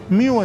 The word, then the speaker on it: Mu: Me dice el doctor Carlos Aguilar, se escribe Mu, se pronuncia Miu, me dice. Miu, entonces, se pronuncia esta variante.